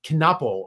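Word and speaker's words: Knueppel: I want to think that K is silent, but it's not. Knuppel or something is the way that's pronounced.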